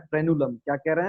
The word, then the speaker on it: frenulum: उस स्ट्रक्चर को हम लोग कह रहे हैं फ्रेनुलम।